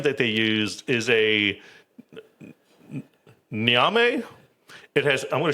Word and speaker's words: ñame: Ñame. Ñame.